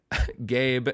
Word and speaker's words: Gabe: Gabe, and then I love they give a pronunciation key, and it just says, pronounce like the word gay. Then you add a B sound.